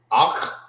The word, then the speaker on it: Akh: Akh and Akhwath. Some people say it so fast you will not hear like the pronunciation that the you hear Akh. Sound like you're saying it with a K, the K-A, Akh. But it's Akh. All right.